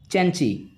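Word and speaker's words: The Cenci: सैलीज द चेंची, ध्यान रखिएगा, कुछ लोग इसको सेंसी पढ़ते हैं लेकिन ये इसका वास्तविक जो प्रोनाउंसिएशन है द चेंची।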